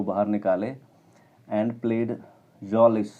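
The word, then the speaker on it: Mjölis: And played जॉलिस, इसको am silent रहेगा, इसको जॉलिस बोलेंगे।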